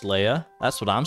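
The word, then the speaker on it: Leah: Bro, it's pronounced Leia.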